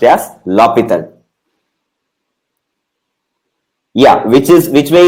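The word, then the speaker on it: L'Hôpital: l'hopital's rule this is not pronounced as a la spittle it is pronounced as la Pieta yeah which is which way is easier see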